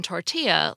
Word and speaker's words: tortilla: tortilla armadillo and Guillotine we pronounced the two L's in tortilla like a y as they are in Spanish yet in armadillo we